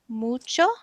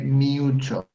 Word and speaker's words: mucho: So we don't say mucho like in English. You say in English we say you. Is u, just u. Mucho.